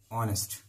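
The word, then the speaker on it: honest: এন ই এস টি অনেস্ট এখানে দেখো এইচ এর উচ্চারণ হচ্ছে না এইচ উচ্চারণ হলে হাওয়ার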